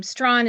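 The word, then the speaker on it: Strachan: Um but my question today um my last name Stron is a derivative of Stron but uh from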